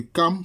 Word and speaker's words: Cham: Maintenant, il dit, quant au fils de Cham, ou bien Cam, bon, ça se prononce Cam, ça s'écrit Cham, mais ça se prononce Cam.